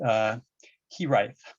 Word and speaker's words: hiraeth: I will not pronounce this quite well, but I believe it is pronounced hiraeth.